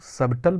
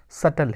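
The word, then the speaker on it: subtle: Normally इसको हम लोग सबटल बोलते हैं, लेकिन एक्चुअल प्रोनाउंसिएशन इसका सटल है।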